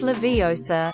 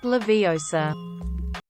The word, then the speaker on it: Leviosa: Beyonce drives me crazy it's Leviosa not Leviosa